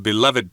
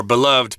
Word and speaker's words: beloved: guaranteeing the well-being of beloved pets or beloved pets you can say it both ways days they play such